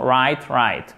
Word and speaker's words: right: Bon, il faut vraiment faire le R avec la gorge. Hein, c'est pas right. Non, right.